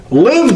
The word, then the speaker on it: LIV: starting with its name which when pronounced rhymes with give we call it live but it's actually the Roman numeral for 54.